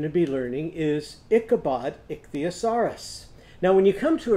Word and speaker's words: ichthyosaurus: of it to me can you say that ichthy now say asaris say that back a saris now let's put it together ichthyosaurus ichthyosaurus now let's count how many syllables are in that word ready ich the uh saw wrist and we had to come